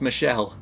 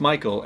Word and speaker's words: Michael: again this girl was adamant that it was pronounced Michelle. So Mom, bemused, said something along the lines of, "It's literally a name from the Bible. It's pronounced Michael and has been for thousands of years."